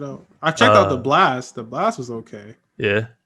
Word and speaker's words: Blxst: and i don't know how to pronounce it blast it's blxst that's all he got